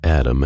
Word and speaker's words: ADM: he explained to me ADM and REM pronounced Adam and R considering your placement in